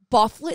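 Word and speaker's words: Byfuglien: Thor Bufflin. You've heard of Thor Dustin? Thor Bufflin? You heard of Dustin Bufflin? That's Bufflin? That's how you pronounce that name?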